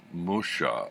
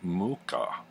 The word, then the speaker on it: Mucha: always been pronounced it Musha or Mucha and it turns out he's actually check and the pronunciation according to his grandson who had done an online interview is Mooka so anyway having gotten